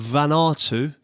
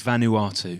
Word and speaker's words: Vanuatu: appears the whole of van artu is now listening to our podcast believe it or not yeah i mean it's vanuatu oh sorry mate no no i couldn't pronounce it last week either so it's vanuatu vanuatu yeah so we've